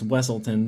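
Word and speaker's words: Weselton: But yeah, it's actually pronounced Weaselton in Zootopia because he's actually a weasel. It's Wesselton though in Frozen.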